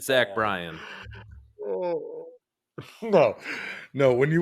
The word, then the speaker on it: Bryan: Yeah, it's Luke Bryant's nephew. It's not Bryant. It's Zach Brown and Luke Bryant's offspring. I'm pretty sure I said Zach Bryan.